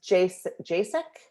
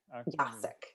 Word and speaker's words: Jacek: Is it pronounced Jasek? Is that correct? Let's see, you should be able to unmute now. Well, it's Jacek. Jacek.